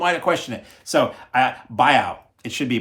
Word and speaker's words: Biao: So Biao, it should be Biao, Yuen Biao.